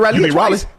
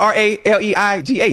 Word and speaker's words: Raleigh: I've been to Raleia. Okay, close enough. That That's how you say it. How you say it again? You for real? But it's spelled R A L E I G H.